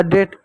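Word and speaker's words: date: जैसे एग्जांपल तौर पर देखिएगा एक शब्द लिखूं डी ए टी ई अब डी को क्या पढ़ेंगे डी को ड पढ़ेंगे ए को क्या पढ़ेंगे ए की मात्रा पढ़ेंगे टी का साउंड क्या होगा ट होगा डेट ई आपका क्या साइलेंट होगा ठीक है प्यारे बच्चों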